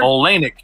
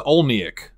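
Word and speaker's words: Oleynik: olanik Christ Marissa and the emphasis is on the same syllable in both her first and last name I keep want to say Larissa olneyik you know what I mean like the wrong emphasis on the wrong syllable well it's just an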